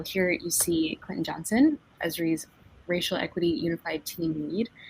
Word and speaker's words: Esri: A team at ESRI, it's pronounced ESRI, right, Clinton? Yep.